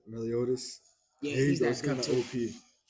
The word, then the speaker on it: Meliodas: Meliodas.